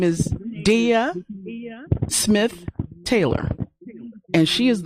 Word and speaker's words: Deya: It's Deya, yeah. Deya.